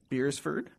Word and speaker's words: Beresford: at the law firm of beersford Booth beersford beersford yes all right I said it right uh